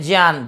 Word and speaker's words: ज्ञान: ज और य है ना, इसलिए ज्ञान। आप देखते हैं जो संस्कृत पढ़ने वाले हैं या जो संस्कृत के विद्वान हैं, वो इसका उच्चारण करते समय जय बोलते हैं, ज्ञान या ज्ञानी, है ना।